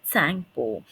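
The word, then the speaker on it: Tsangpo: it is called as Tango okay here T is silent it is Tango only a part of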